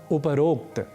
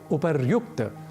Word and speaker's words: उपर्युक्त: तरीके से एक और शब्द है उपरोक्त जो कि गलत है हमें कहना चाहिए उपर्युक्त ऊपर शब्द है ऊपर वस्तुतः मूल शब्द है और उसके बाद हम एक प्रयोग करते हैं उक्त का तो जब दोनों शब्द मिलेंगे संधि होगी तो शब्द बनेगा उपर्युक्त ना कि उपरोक्त यदि ऊपर ऐसा शब्द